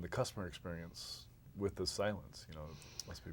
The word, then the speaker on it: Cylance: I know I'm supposed to pronounce it Cylance because that's actually part of what Cylance does, right? That's right, exactly. We are focused almost entirely on making security very silent.